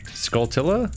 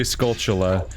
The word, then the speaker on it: Skulltula: on this one, because it's clearly Skulltula, because it's like tarantula, a type of spider. It's clearly the root of the word.